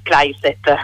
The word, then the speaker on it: Claysset: ci colleghiamo con Manuela Classé, che è la responsabile delle politiche di genere dell'UISP. Intanto io chiedo, Manuela, è giusto dire Classé? Sì, Kleiset, ma va bene. Allora, è un po' più alla tedesca.